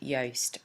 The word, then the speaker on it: Yoast: be looking for is a plugin called yast y a s so rhymes with toast um we have ours